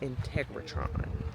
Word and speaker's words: Integratron: bit of the history of it but it's pronounced Integratron all right we're off lunch for